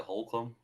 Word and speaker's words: Holcomb: mullet man himself that's how you say it Holcomb Colton Holcomb three-year 18 million dollar deal um